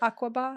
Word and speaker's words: Aqaba: Aqaba?